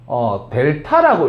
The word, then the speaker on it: 델타: 그래서 이 세모를 갖다가 읽어줄 때는 델타라고 읽으면 돼요.